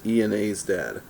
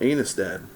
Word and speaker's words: Ena's Dad: is ena's dad so it's like e and a's dad but it's enas dad and a lot of people have been wondering how in the world you pronounce that um and he admitted in his video that even some have called him anus dad and that he didn't